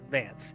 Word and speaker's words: Vanth: Oh, so it's pronounced Vance, even though it's spelled Vanth.